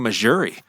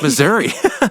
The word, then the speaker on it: Missouri: from she was like why are you saying Missouri I was like cuz that's how you say it right she's like no it's Missouri but I used to